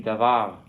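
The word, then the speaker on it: דָּבָר: Repeat after me, davar.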